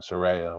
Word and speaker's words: Saraya: debut match at aew Soraya by the way Soraya Saraya whatever I mean she actually called Saraya so it's called by a name right are you sure